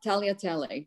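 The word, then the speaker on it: tagliatelle: the spaghetti italia yeah taliatelli the g is silent it's lovely i didn't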